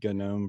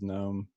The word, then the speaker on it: GNOME: wrote back and said technically it's pronounced with the hard G but calling calling us